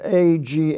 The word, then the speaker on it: against: And in the Cain, rain family, we have A-G-A-I-N, which is pronounced again, and A-G-A-I-N-S-T, which is against.